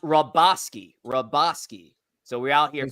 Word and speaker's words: Hrabosky: It's pronounced Hrabosky.